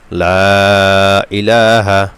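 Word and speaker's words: لا إله: আস্তাগফিরুল্লাহি আস্তাগফিরুল্লাহি আস্তাগফিরুল্লাহি এরপরে লা ইলাহা লা ইলাহা লা তে তিন আলিফ টান হবে জবরের পরে খালি আলিফ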